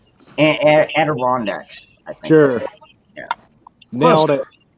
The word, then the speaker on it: Adirondacks: Adirondacks, I think.